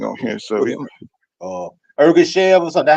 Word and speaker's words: Ergashev: So What is Ergashev or something? That's how you pronounce it? Ergashev. Ergashev? Yeah, That's Ergashev.